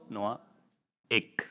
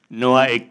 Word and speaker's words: Noahic: The way to do it is say Noah, Noahic. Noahic covenant.